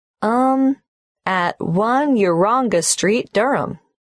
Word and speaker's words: Durham: at one urunga Street Durham how do you spell Durham d-u-r-h-a-m of course I should know that but it's just one of those names that sounds quite different from the way you spell it it is confusing I've